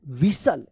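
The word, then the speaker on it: whistle: तक आप पढ़े थे डब्ल्यू एच आई एस टी एल क्या पढ़ेंगे ई ई था यहां तक विसल क्या पढ़ते थे इसको विसल यहां पे जो है ना टी टी जो है ना साइलेंट था तो विसल्ड पढ़ेंगे क्या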